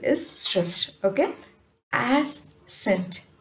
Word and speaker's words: ascent: Okay, ascent, ascent, here scent has consonant, sorry, consonant cluster, so we stress this.